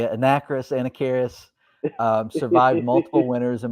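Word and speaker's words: Anacharis: it wrong forever how did you say it anna karis i don't know if that's right that's because it's a-n-a-c-h-a-r-i-s i believe i'm just saying i'm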